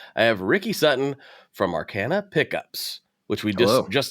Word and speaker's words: Arcana: And with me today, I have Ricky Sutton from Arcana Pickups, which we just just discussed is the only way you're allowed to pronounce it.